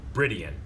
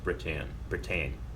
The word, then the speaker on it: Britton: Well, let's end with this last question from Logan Britian. Is that how you're supposed to say his name, or just Britain? Britain. Just Britain? Yeah.